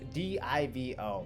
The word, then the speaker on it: DIVO: it div o because it sounds like the first syllable of dividend and oh so we obviously know